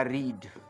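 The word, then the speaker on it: read: मान लो पढ़ने के लिए आएगा रीड, माने पढ़ना, तो इसमें क्या होगा? रेड। स्पेलिंग में वही है बट पढ़ाएगा रेड।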